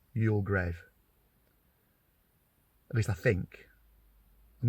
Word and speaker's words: Youlgrave: great again right offski you grave not you grieve although it is often spelled g r e a v e but I think however it's spelled it's pronounced y grave at least I think